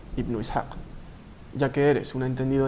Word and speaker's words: Ibn Ishaq: obra de Ibn Ishaq, que por cierto, se pronuncia Ibn Ishaq.